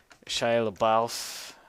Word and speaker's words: LaBeouf: The Shia LaBeouf. How do we say his name? Name, pronunciation.